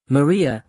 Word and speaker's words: Maria: "Maria," he says, rolling the R the way his wife used to roll it, like love itself has a sound. "Maria," Bianca repeats, and the